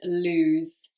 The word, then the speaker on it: lose: common one loose and lose loose and lose so different pronunciation as well one is longer than the other loose lose okay so